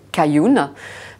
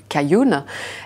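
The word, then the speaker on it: 开云: ou King en chinois va se prononcer cayun donc notre marque au nom en Chine s'appelle kering kayun et pour ceux qui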